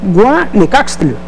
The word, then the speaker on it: guanecaxtl: náhuatl, que significa, bueno, es más o menos se pronuncia, es guanecaxtl. Guanecaxtl.